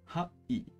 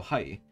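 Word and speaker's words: はい: This word sounds like hi or hai. However, remember how e sounds like e. The word hai is actually pronounced ha-i.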